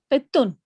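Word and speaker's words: قطٌّ: Zalika qit. Kittun. Qittun. We read complete till the end, like qittun.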